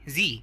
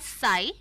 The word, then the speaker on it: Sie: और third person plural, उस case में सी, जी, जी, इट्स नॉट सी, या जी। हाँ, और दोस्तों उसको हम लिखते हैं SIE, तो वी डू not pronounce it एज साई, बट वो सी है, जी है, जी है, जी सिनेमा वाला जी है।